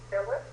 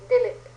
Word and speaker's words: Dilip: Philip? Dilip. It rhymes with Philip, yes. But it's D-I-L-I-P.